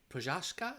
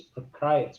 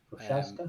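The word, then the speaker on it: Procházka: So number 4 and 5 is Alexander Rakic and Jiri Prochazka. Is that how you say it? They I think are they said it's Prokrajec, which it's not right at all, but okay. Prochaska.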